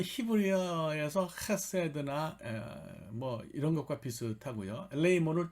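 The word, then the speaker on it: ἐλεήμων: 엘레몬 이렇게 읽으시는 분도 있는데 이걸 좀 길게 애를 좀 길게 발음하셔서 그냥 그 유럽 사람들이나 미국 사람들 헬라어를 공부하는 사람들 엘레이몬 이렇게 읽어요.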